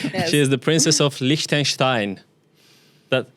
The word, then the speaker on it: Liechtenstein: She is the princess of Likenstein. That correct? Correct pronunciation.